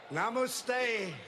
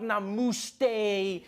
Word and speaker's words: namaste: People were coming on like, dude, it's not namaste, it's namaste. Who messes up namaste? It says namaste.